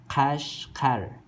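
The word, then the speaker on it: Qeshqer: You see here, this is Q. We pronounce it as K in Uyghur Latin alphabet.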